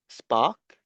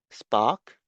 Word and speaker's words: spark: When you pronounce spark, can you feel the puff of air? Spark. Spark. No, you can't. Well, you better try with your hands. Spark. You can't. If you were to pronounce it with a puff of air, then you will have to say something like spark. And I don't think you need to do that. You just say spark unlike in park, right?